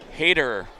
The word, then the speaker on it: Hader: How do you pronounce that? Hader. So he's like a hater.